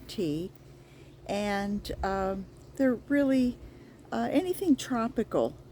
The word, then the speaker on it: Ti: And that's spelled T-I. It's pronounced like the drink tea.